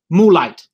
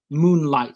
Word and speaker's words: moonlight: expect that student to pronounce this word moolight instead of moonlight so that n would be dropped all right um so